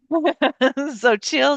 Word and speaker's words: Xochitl: I looked up how to pronounce her name because I didn't want to murder it. So chill Gonzalez.